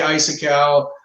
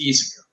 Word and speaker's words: Isaku: Now I've heard Isaku, I say Isakau. There's a lot of different ways to say it. The official pronunciation is Isaku.